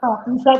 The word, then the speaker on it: पूषा: पूषा को पूखा बोलते हैं वो।